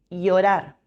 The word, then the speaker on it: llorar: La doble L se pronuncia como Y. Llorar, lluvia.